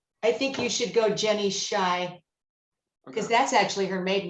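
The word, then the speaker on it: Scheu: what's her name jenny shy but she spells her last name well she goes by her maiden name which is jenny potter but it's s-c-h-e-u s-c-h-e-u and she pronounces it shy she has a website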